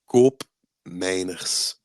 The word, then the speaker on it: Koopmeiners: I would like you to repeat slowly and loudly how you pronounce Koop Miners, please. Okay, I'll try. It's koopmijners. I love it. I love native speakers pronounce. I'm guessing you're very close to uh, the Dutch pronunciation.